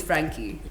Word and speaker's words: Frankhie: always been certain that this h-i-e should be pronounced and it's not silent so i wasn't saying i wasn't saying frankie at first yeah i tried i